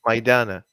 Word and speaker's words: Maydana: Is it Maydana? Am I saying it right? Maydana.